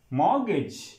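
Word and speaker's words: mortgage: थम थम B silent मॉर्गेज मॉर्गेज ी silent niche niche it mean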